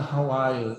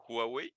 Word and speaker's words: Huawei: The second solution is to use a Hawaii, is a China.